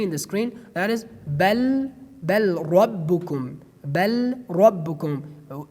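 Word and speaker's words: بَلْ رَبُّكُمْ: And the next example, as you see in the screen, that is bal rabbukum, bal rabbukum. Based on idgham, we pronounced it bar rabbukum, bar rabbukum.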